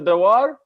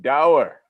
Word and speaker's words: Dawar: i know right brother the war no dawah power like power allah is a father oh i like it dower all right i like